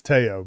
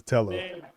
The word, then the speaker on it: Tello: I'm pretty sure it's Teao, but everyone says Tello because how it's spelled.